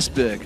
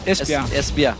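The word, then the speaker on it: Esbjerg: there you go yeah it was actually one you pronounce it I I said esber I do espia there we go today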